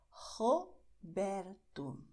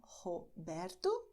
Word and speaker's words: Roberto: Então, Roberto, Romário, Rodrigo. Você vê que para essas palavras, a primeira letra R no começo eu usei a garganta e para a segunda eu usei a ponta da língua.